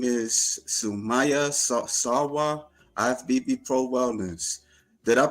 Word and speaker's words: Sumaiya Sarwar: Her name is Sumaya Sa Sawa IFBB Pro Wellness. Did I pronounce that right?